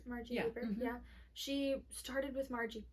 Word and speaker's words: Margie Haber: Is that how you pronounce Margie Haber?